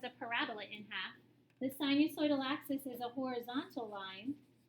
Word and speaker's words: sinusoidal: So S-I-N we pronounce as sinusoidal. So O-I has that oi sound.